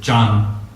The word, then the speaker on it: Chan: con varios ancestros Chan, que es la pronunciación china de la palabra Zen en japonés. Es el mismo ideograma. En China se dice Chan, en Japón Zen.